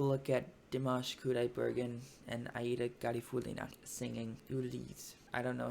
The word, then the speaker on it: Aida Garifullina: The point of saying all that was that vocal coach actually pronounced it that way in that reaction, and I remember from the announcement of that video he particularly pronounced it as Aida Garifullina, and so I'm gonna go with that. Let's begin in just a moment.